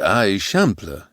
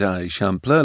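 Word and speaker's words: Eixample: That's the I shampler, he explained, pronouncing it a shampler like a local might.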